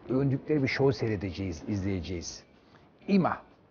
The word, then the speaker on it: Yma: IMA. Ama YMA diye yazılıyor. IMA diye okunuyor.